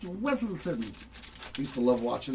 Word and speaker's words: Weselton: Another one for Cinderella Story and Duke of Weaselton again. It's pronounced Weselton.